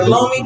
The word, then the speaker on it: Lumi: It's The Lumi, the looming.